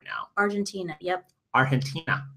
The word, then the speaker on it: Argentina: Argentina, I believe is how they say it. Yeah, the G turns into an H somehow.